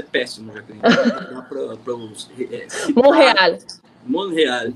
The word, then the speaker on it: Montréal: Montréal, esse Montréal. Eu sempre esqueço que o T é mudo.